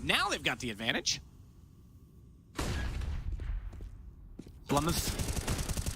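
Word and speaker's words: blameF: Blumouth. It's a 2-syllable name.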